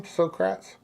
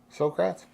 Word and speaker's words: Socrates: philosopher srat how do you say his name srats Socrates is that right Socrates Socrates I I knew